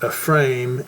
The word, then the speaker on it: Ephraim: They would say if Ephraim and Manasseh, but you know, it's actually pronounced Ephrame and Manashe.